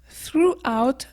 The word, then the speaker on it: throughout: devant on a THR quand on a THR on va juste prononcer le ou comme si c'était ou quelques exemples we had a good growth throughout the year on a